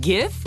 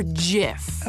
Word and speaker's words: GIF: Wait, GIF or JIF? Hard G.